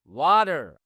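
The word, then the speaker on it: water: ওয়াটার। মানে এই টিটাকে soft দা sound হয়ে যাবে ওয়াটার।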